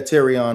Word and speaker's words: Terrion: Yeah, Terrion Arnold.